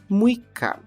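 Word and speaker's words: むいか: que é uma leitura especial dia seis é muica muica sendo neste não ha ver o t e ser inclusa a sílaba I logo muica agora vamos para o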